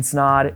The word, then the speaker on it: Snod: My name is Snod, it rhymes with odd, and I'll see you in the next lesson.